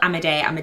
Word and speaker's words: Amidei: Amidei.